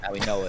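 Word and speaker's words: Mauigoa: Maui Noah I pronounced name wrong every time. Maui Noah that's the right pronunciation.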